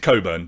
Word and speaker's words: Cockburn: way true or false we pronounce it Coburn just for reference age if you want to say Cockburn you're fine so if we make